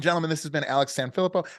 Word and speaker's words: Sanfilippo: Ladies and gentlemen, this has been Alex Sanfilippo. How do you say your last name? I forgot to ask. Sanfilippo. You pretty much have it.